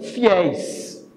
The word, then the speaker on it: fiéis: Então, fiel. Ó, a última sílaba é tônica, ó. El. Fiel. Fiéis.